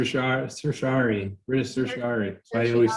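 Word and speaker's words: certiorari: all pronounce writ of cert differently what is your go-to pronunciation i say cert because i can't say this sir cersari ari why do you always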